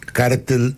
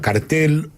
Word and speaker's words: cártel: Es importante explicarle a la gente por qué se llama el cártel de los soles. Hay gente que le llama cartel, pero la palabra correcta es con acento en la cártel de los soles.